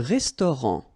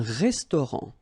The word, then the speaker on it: restaurant: Un restaurant. Final T not pronounced. Un restaurant.